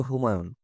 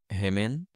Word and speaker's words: হুমায়ুন: আমি আবারও বললাম, এসো, এসো আমার সঙ্গে, চেষ্টা করো, বলো হুমায়ুন। গ্লাস বলল, হেমেন। আমি বললাম, হলো না, আবার বলো, হুমায়ুন, হুমায়ুন।